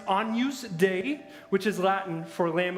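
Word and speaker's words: Agnus Dei: it's not about a lady named Agnes it's pronounced onuse day which is Latin for lamb of god so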